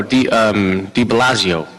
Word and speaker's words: de Blasio: And what's the, correctly pronounced, the name of the new mayor in New York? Oh, De Blasio.